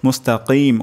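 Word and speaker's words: مستقيم: আরবি তেলাওয়াত করছি সবচেয়ে গুরুত্বপূর্ণ শব্দ হলো তারপর মুস্তাকিম কফ উচ্চারণ করা এখানে ক্ষেত্রে আমাদের কাফ হয়ে যেতে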